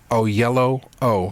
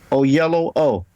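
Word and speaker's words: Oyelowo: that pronunciation now oh it's really simple o yellow o so it's O yellow in in between and then o at the end o yellow o yeah okay and if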